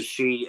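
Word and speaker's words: sidhe: yeah two of the sheet and it's spelled s-i-d-h-e just like Jackie has it right there and you can get it on Amazon just pronounce she this is Carol's granddaughter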